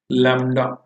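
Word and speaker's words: lambda: इसी को हम कहते हैं wavelength, and this symbol is called लैम्डा। बी भी आता है लैम्बडा। तो लैम्डा है ये, बी साइलेंट सा है प्रोनाउंसिएशन में।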